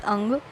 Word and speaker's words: Anga: Magad region, that is Anga. In English, we used to say that Anga, but in Hindi we pronounce it as Ang.